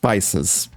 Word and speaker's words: Pisces: I called the zodiac pieces in my previous video, but it's actually pronounced Pisces.